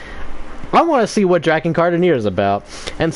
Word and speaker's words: Drakengard: We're pronouncing it right though. Drakengard, right?